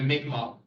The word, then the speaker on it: Mi'kmaq: But we do land acknowledgements, and the people generally, the people who lived in this region were the Mi'kmaq. It's written Micmac, but it's pronounced Mi'kmaq people, and that is the First Nations of the region.